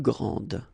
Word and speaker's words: grande: And regarding the feminine form, you will pronounce it grande. Okay, don't insist on the final E, but then pronounce this D, grande, and then exactly the same pronunciation, grande.